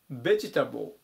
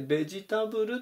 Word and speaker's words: ベジタブル: 883 番ベジタブルベジタブルアクセントに注意ですね最小強く読みますあとはカカでベジタブルってよく書くんですけども発音はウニ点々の方のですねベジタブルていう風に読みます名刺で野菜と